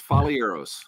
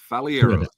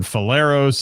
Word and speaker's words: Falieros: It's Falieros. Falieros. I've been saying it right. Okay, there we go. Yeah, because I've heard feros. I've heard all kinds of stuff. Fieros.